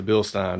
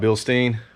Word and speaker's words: Bilstein: big shout out to bill stein because and i learned how to say it watching another video not bill stein bill stein but this setup is